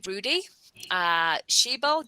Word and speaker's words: Rudi Schiebel: We are joined by Rudi Schiebel. Did I pronounce that correctly?